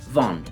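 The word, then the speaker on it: vendent: E pra terceira pessoa plural e eles elas nós temos o final e n t que seriam, mas que novamente não é pronunciado em toda a sua extensão. Fica algo mais ou menos assim: il van.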